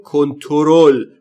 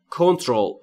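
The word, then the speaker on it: control: میکنمت یعنی کنترل کردن ما تو فارسی خیلی میگیم کنترل ولی در واقع ا نداره بعد از تی کنترول کنترول یعنی کنترل کردن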